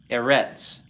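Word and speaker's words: אֶרֶץ: So, given the principle that I gave you, that is in Hebrew, the stress or accent is as a default on the last syllable. You would pronounce this eretz, right?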